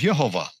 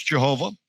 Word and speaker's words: Yehovah: His name is Yehovah. No, they didn't know. They never heard that it was Yod-Heh-Vav-Heh. They just maybe didn't know the pronunciation. No, they don't know. Now some may have guessed it's Jehovah, and I've heard a lot of people say Yahweh.